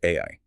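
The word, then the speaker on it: 愛: The Japanese kanji character for love is pronounced ai, A-A.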